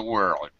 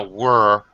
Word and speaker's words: world: the end of the world the end of the word it's not a were it's a world pronounce every sound r l and D World world and it